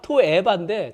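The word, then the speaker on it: תועבה: 토에바 이것처럼 토에바인데 정확한 발음은 토에바인데 그걸 역겨워하시는 거예요.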